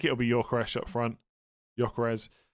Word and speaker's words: Gyökeres: Gyökeres. That's how everyone else says it. I'm going to say it like that from now on.